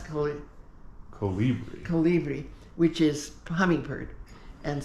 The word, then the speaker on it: Colibri: house is called Casa Calibri. Casa Calibri. No, I'm saying it wrong. Why have I? That was mostly right. Okay, Casa Colibri.